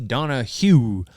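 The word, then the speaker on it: Donahew: got him from Casey Donna Hugh that's how he pronounce his last name Donna Hugh and he's got a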